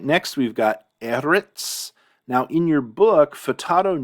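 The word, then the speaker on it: ארץ: This is eretz and not eretz. This is marking the syllable that's accented.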